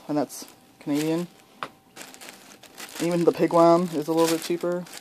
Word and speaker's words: pigwam: Even the pigwam is a little bit cheaper. I used to call it pigwarm, and then I realized that's not how it's spelled.